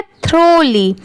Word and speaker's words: thoroughly: ये है थ्रोली। अब इसे क्या पढ़ेंगे? थ्रोली। यहाँ पर THOROUGH इसकी प्रोनाउंसिएशन है थ्रो और LY को क्या पढ़ते हैं? ली। दोनों मिला देंगे तो थ्रो ली, थ्रोली।